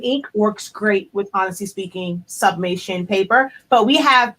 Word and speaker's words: Spinking: And as she mentioned, we have a product line called Honestly Speaking. It's SPINKING. So it's actually pronounced speaking because y'all can tell I like to talk.